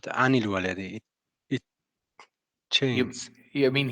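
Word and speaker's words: عن الولد: And normally an, but anil walad.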